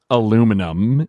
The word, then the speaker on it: aluminum: Humphrey Davy, and he coined the word aluminum in 1808, and then he referred to it again in 1812 as aluminium. So the guy who came up with the word used both, and both pronunciations are considered correct.